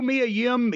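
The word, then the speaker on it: Mia Yim: just a package so how do you pronounce sure eyes io e oh yes yo sure I and Mia him yes okay I know me a him she looks good in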